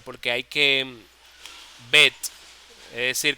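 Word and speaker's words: בית: que bet es decir cuando uno dice la letra bet uno pronuncia la t la t al final bet bet como si fuera una cabrita una ovejita bet con los labios termin ha okay Porque esa es la t final bet bet Esa es la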